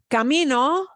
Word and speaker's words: camino: matters okay uh uh Camino Camino is it an oh here's the second to last double Camino Camino oh yeah yeah it obeys it yeah yeah yeah no